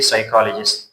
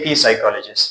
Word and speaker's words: psychologist: The next word is psychologist. Again, you say psychologist, روانشناس. Don't say P psychologist.